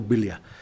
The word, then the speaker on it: Balea: en el lago Vilia, escrito Balea, con B, pero es pronunciado Vilia.